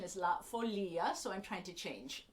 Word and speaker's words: La Folia: For much of my life, I have pronounced this La Folia, which you may also know it as that.